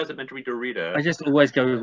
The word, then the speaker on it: Derrida: But let's go with Derrida. Right. That's the common pronunciation. Let's just swing with it.